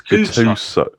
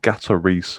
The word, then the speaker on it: Gattuso: Have you seen Tottenham are not appointing Gennaro Gattuso as manager? Oh, that's beautiful pronunciation, by the way. It's so wrong. It's unbelievable. It's Gattuso. Gattuso, yeah. Gattuso. Not Gatarisu or whatever you just said.